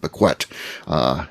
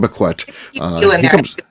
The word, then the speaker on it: Bequette: She spells it the same way, but he says it Bequette. So Sean Bequette. Yeah. You think so? What about Terry Beckett? Is she saying her name wrong? Should I call her? Should I call her and tell her she's... Maybe her family chose to say it wrong. It's okay. Let them... I do the same thing with Mueller. All the families I went to high school with say Miller, not Mueller.